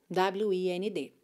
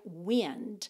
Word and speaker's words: wind: Atenção para a pronúncia desse verbo, wind, porque a palavra se escreve exatamente igual a wind, vento, w i n d. Só que o vento a gente pronuncia wind e esse verbo aqui, wind.